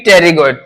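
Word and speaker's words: pterygoid: यहां पे टेरिगोइड, वो मसल यहां पे, ये टेरिगोइड यहां लिख देता हूं, पी साइलेंट रहता है इसमें फ्रेंड, पी टेरिगोइड, ऐसे पढ़ो तो टेरिगोइड, या इसको बोलेंगे टेरिगोइड।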